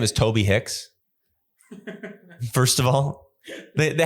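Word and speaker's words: Tobe Hixx: was in the email the headliner's name is spelled t-o-b-e -h-i-x-x it's like uh like a porn name Toby Hicks and he's a good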